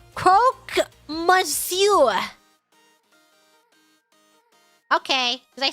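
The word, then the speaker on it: croque monsieur: have you passed out if you want to pronounce Croc Monsour just say cro mure okay did I say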